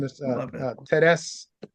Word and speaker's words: Therese: Teres Amin, but it's spelled like Therese, Therese, and so she's from Cameroon, Okay.